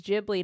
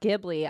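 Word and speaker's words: Ghibli: guy who invented Studio jibli which by the way it's jibli not gibli I didn't know that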